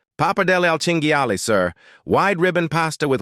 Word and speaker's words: pappardelle al cinghiale: "It's pronounced pappardelle al cinghiale, sir.